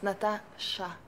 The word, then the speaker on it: Natasha: But you're not saying it right. It's Natasha. Sha.